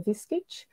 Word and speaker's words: Viskic: who's just logging on my name is viskitch and there will be a quiz later on on how to pronounce my surname and the winner gets a